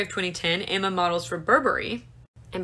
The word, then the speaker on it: Burberry: 2010 emma models for burberry and before anybody says that it's burberry it's not it's burberry i